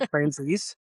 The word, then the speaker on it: Franzese: my stuff and say, "Huh, how do you pronounce that again?" And Franzese.